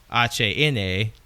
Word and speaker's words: HANE2: Which, well, as it's spelled HANE2, or as it's pronounced in so, HANA.